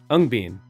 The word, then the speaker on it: Ung Bean: Urban Scaramouche, you said it's pronounced ung as lung and ben as bean. Ung bean.